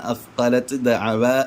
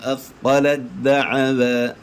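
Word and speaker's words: أثقلت دعوا: ഫലമ്മ അസ്ഖലത് ദഅവ എന്നും അല്ല ഓതേണ്ടത്. ത പിന്നെ അവിടെ ഉച്ചാരണത്തിലേക്ക് കൊണ്ടുവരികയില്ല, കാരണം ത-ന് ശേഷമുള്ള ദാലിലേക്ക് ചേർത്തിയിട്ടുണ്ട്. അതുകൊണ്ട് പിന്നെ അവിടെ നമ്മൾ ത ആയിട്ട് ഉച്ചരിക്കുകയില്ല. ദാൽ ഷദ്ദുള്ള ദാലേ ഉച്ചരിക്കുകയുള്ളൂ. ബിസ്മില്ലാഹ്. ഫലമ്മാ അസ്ഖലത് ദഅവ, അസ്ഖലത് ദഅവ.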